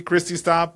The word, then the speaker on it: Kristi Staab: Did I say that correctly? Kristi Staab? Did I butcher your name? You got it. Checks in the mail.